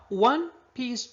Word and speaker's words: one-piece: Now, one-piece dress. Yes, it's a one-piece dress because O is a consonant sound like a wall or a wallet.